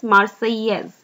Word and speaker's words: Marseillaise: French pronunciation is Marseillaise, which is the national anthem of France.